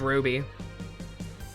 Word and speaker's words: RWBY: That's almost as stupid as them expecting RWBY to be pronounced Ruby.